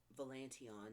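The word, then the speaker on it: Valantion: like she was raised Cyrene valanteon now that I can say it it looks like validation written down and like my whole brain was just like girl say it right but Cyrene she ends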